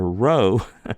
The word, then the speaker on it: rho: And again, that's a little bit confusing because the next letter, rho, looks like a P, but it's pronounced like an R sound.